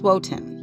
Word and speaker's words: Wotan: However, there are a few ways to pronounce his name: Woden, Odin, Othin, and sometimes Wotan.